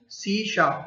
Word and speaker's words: C#: Microsoft introduce a new language called CSAP pronounced C शार्प।